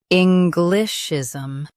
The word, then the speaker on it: Englishism: English, ism. Englishism. Stress N and keep glish light.